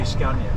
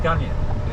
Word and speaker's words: Scania: Well, you say Scanya, right? Scanya. We say Scanya. Scanya, right? Scanya. Yeah. Scanya. Some say Scanya.